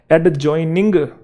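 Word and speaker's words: adjoining: एक वर्ड है एडजॉइनिंग, एडजॉइनिंग नहीं है वो, एडजॉइनिंग है, एडजॉइनिंग। ठीक है।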